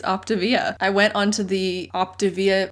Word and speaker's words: Optavia: in this i have always thought it was pronounced octavia i have always said it that way i've